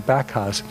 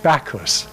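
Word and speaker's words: Backhouse: trone backas and you you're not supposed to pronounce him backas he always liked to be pronounced bakus because he liked the Greek you know he liked the god backers um anyway he was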